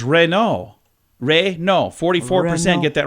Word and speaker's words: Renault: Other manufacturers that have been pronounced wrong, Renault is Renault.